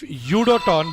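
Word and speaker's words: UdoTan: If Udoton gets an offer, if Udoton, by the way, for everyone here in chat, it's pronounced Udoton. Like, yo, Udoton homing missile.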